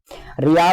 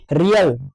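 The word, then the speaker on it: riel: जिसकी जो हमारी मुद्रा है वो है रियल। मतलब रियल रिंग। जैसे इसके लिए रियल पढ़ते हैं। इसकी जो स्पेलिंग होती है वो होती है आर आई इ एल।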